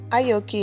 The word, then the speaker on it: Aoki: Aoki is how you say her name, I think. I don't think the A is silent, but she's 16 and she's in high school.